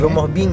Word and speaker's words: Rumoh Bieng: Itu Bieng, Rumoh Bing ya bacanya.